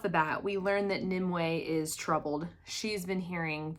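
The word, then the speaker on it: Nimue: how it's pronounced but I'm pretty sure her name was pronounced nimway I have it written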